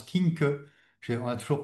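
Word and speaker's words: Quincke: Euh une remarque sémantique enfin que j'ai j'ai appris monsieur Kink c'était un allemand donc ça se prononce Kink. On a toujours prononcé Quick King ou voilà, c'est monsieur Kink, un allemand un médecin allemand qui avait qui avait décrit la maladie cette odème.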